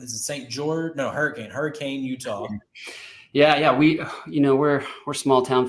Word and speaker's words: Hurricane: No, Hurricane, Utah. Yeah. We're small town folk here, and so we say it Hurricane. There's the short A and not enough syllables probably, but yeah.